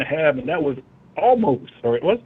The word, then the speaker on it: Omos: How do you pronounce it again? Omos.